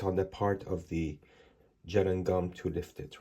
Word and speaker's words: gellan: And that is I think an attempt on the part of the gel and gum to lift it. Right. So I'm correcting my pronunciation of gallon to gel because it is geland apparently.